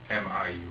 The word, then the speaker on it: Miu: M-I-U. How do you spell, or how do you pronounce that?